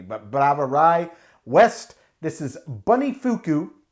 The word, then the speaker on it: Brouwerij: this is bradae west that's a b-r-o-u-w-e-r-i-j that is the dutch word for brewery it sounds nearly identical to the german bra although they do have slightly different pronunciations all albeit spelled differently but brava rai west